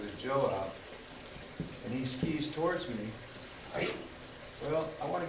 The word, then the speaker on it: tsuki: so the first five are what are called skis which is spelled TS U Ki I'm going to do